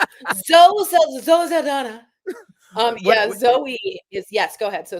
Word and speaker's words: Zoe: Uh, Zo Sana becomes the highest grossing actor ever. Wait, excuse me. Her name is Zoe.